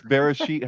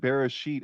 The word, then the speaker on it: Bereshit: So Chris, I think what you're referring to is that Bereshit has the shin in there. I'm pretty sure. So that's the sh of Bereshit, and so that's Genesis.